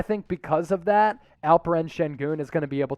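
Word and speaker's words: Şengün: and for future reference his last name is pronounced shen goon but it is spelled sengun i think alperin shin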